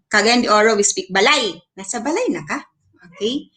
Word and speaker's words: balay: But in Cebuano, balay can be uttered like bay. Nasabay na ka, okay? But in Cagayan de Oro, we speak balay.